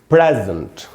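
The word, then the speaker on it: present: Stress का निशान है, यानी हमको इसमें इसको पढ़ना है प्रे। यहां हम क्या पढ़ रहे थे दोस्तों, प्री, यहां पढ़ेंगे प्रे। और उसके बाद अगर आप देखें जो दूसरा हिस्सा है SENT वाला, इसमें अगर आप देखें तो ये आधा, यहां पर ये आधा अ का साउंड यानी श्व साउंड है, यानी इस वर्ड को हमको पढ़ना चाहिए प्रेजेंट।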